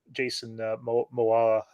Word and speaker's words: Momoa: But no, I mean, I'm always excited to see Jason Momoa. I can't pronounce his last name every time.